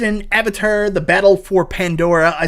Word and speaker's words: Pandora: find out more about Avatar the battle for Pandera or I said that wrong Ponderosa the battle for Pandora I did say it right again I've never